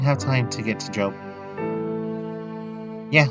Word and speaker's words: Job: Job. There we go. The Book of Job. The Book of Job. It's spelled like Job, but you say it like Job.